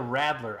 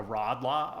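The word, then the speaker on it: Radler: pronounce it interestingly um the best pronunciation video on it was arnold schwarzenegger because this is a law yeah and he called it a rattler i was ready to call it a rod law or whatever like they would but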